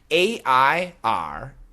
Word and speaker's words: air: So the first three are pronounced the same. A-I-R, E-R-R, H-E-I-R are all pronounced air. Air, air, air.